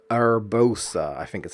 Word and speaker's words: Urbosa: Urbosa, I think is how you pronounce it.